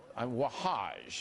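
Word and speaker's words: Wahhaj: Against Terror but I wonder if Imam waha wahaj that's how you say his name he's a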